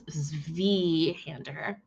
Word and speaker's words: Zweihander: Oh, I pronounced it wrong. It's Zweihander.